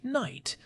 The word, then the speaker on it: night: It is why we have words like night with a silent K and a silent GH.